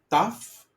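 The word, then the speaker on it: ταυ: Then we have tough. Tough is like um trapezi. Okay. The table trapezi also remember the uh the shape in geometry the trapezium. Okay. Trapezium. So it's t like top trapezium.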